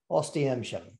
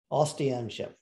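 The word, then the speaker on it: Oświęcim: Now, first order of business is that the Polish do not know this town as Auschwitz. That is a German name because the Germans could not pronounce the Polish name of this town.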